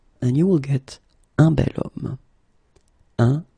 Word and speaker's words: bel homme: So remember, I say the sound of a vowel because, of course, if you look carefully, you've got H here, okay? And it's not a vowel at all. But then in French, we don't pronounce it.